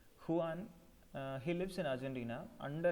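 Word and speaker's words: Juan: the senses the hero of our story is Huan Seto we call him Huan again it's spelled as Ju a n but we pronounce it is Huan Huan he lives in Argentina under a dictatorial regime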